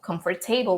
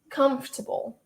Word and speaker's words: comfortable: the word, it just comes out something like comfortable, comfortable, because I know that this is usually pronounced as come. This is for, obviously, and table, so comfortable, but it's actually not.